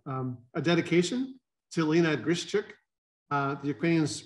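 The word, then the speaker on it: Grishchuk: a dedication to lena grischick the acquaintance pronounced it the g is almost silent and they did recently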